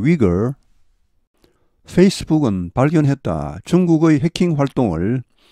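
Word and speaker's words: Uyghur: 소위 그 멋을 엄수 위구르 영어 발음은 위그 입니다 위구르 회교 또 들어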